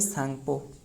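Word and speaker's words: Tsang: ही रहे हो ना ये वन सांग मतलब टी टी में साइलेंट जो कि इसका जो सांग रहा है ये टी साइलेंट है अगर हमने एस एन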